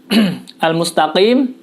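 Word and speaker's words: الْمُسْتَقِيمَ: huruf qaf pada lafazh Al Mustafa klaim ya al-mustaqim disini menggunakan huruf qaf pada perlu diketahui pada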